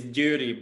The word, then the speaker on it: Győri: It's Győri Ballet.